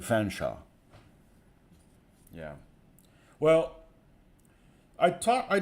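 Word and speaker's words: Featherstonehaugh: of call it featherstonea you would expect to be pronounced featherstona yeah but over time it is contracted to fenshaw yeah well I talked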